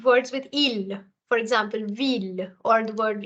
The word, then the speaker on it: ville: this goes away, and hence I'm left with ville and mille.